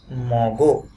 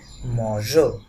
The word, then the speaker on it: mangeons: থাকতো তাহলে এই নুর সাথে যেই কনজুগেশনটা, এটার উচ্চারণটা হতো নু মগো। সো এই মগো যাতে না হয় সেই জন্য এখানে একটা ই অ্যাড করা হয়, যাতে এটার উচ্চারণটা কেমন থাকে? মজো।